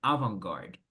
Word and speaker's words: avant-garde: Pero vamos a pronunciar avant-garde.